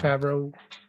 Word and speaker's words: Favreau: And John Favreau, by the way. I think I pronounced his last name wrong. Favreau.